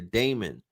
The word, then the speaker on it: daemon: But the daemon, I don't pronounce it demon. I pronounce it the daemon.